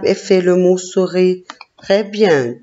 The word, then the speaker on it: souris: Oui, et dans la deuxième syllabe, il y a la lettre S que je ne prononce pas. Elle est muette.